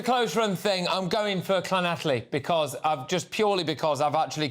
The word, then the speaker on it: Llanelli: I will correct your pronunciation off-air so as not to embarrass you. Llanelli.